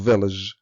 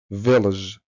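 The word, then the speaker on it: village: هادئه وخلي بالك ان فيلج فيها قاعده صوتيه ان اي كلمه تنتهي باي جي اي مش بننطق الاي ولا بننطق الاي يعني الاي والاي سايلنت وحرف الجي هنا هيتنطق جي معطش عشان كده هنقول فيلج فيلج هي الوز هي معناها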